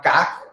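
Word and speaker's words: ka'ak: Ese pan que vemos ahí con un hoyo que se llama K, se escribe K-A-A-K, es también uno de los panes tradicionales del Medio Oriente y personalmente libanés.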